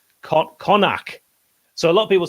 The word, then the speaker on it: Connaught: Connaught is pronounced Connacht.